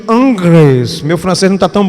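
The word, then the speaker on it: Ingres: por um pintor chamado Dominique ingris a pronúncia em francês seria Dominique angres meu francês não tá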